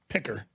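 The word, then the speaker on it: Piker: pick up that name that's his name Hassan picker picker and if you're a radio listener you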